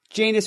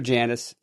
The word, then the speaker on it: Janus: time a Janus metasurface Janis or Janice both are good one's British pronunciation one's uh American they have created for